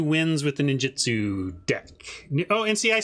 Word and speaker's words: ninjutsu: One of our regulars pointed out that it's ninjutsu, not ninjitsu.